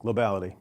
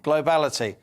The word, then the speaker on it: Globality: Tell me how you pronounce the name of your company. You got it just right, Liam. Globality. Globality.